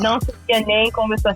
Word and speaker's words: Não Sabia Nem Começar: You don't pronounce the M in the name. You go to nay. Oh, nay. Okay. Now Sabia Nem Começar. Yeah, não sabia nem começar.